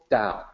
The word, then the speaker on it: Tao: how you slice it the correct way to say it is still down I know that in